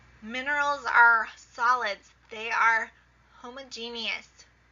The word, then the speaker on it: homogeneous: They are homogeneous. Sometimes you might hear it pronounced homogeneous.